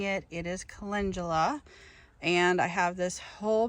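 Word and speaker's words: calendula: my what I called in the last video kalandula I have since realized that I was mispronouncing it it is Cula and I have this whole big patch here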